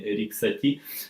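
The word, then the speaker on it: Erik Satie: И рассказать вам об одном из моих самых любимых композиторов, об Эрике Сати, Эрик Сати по-французски, да, его произношение, Эрик Сати.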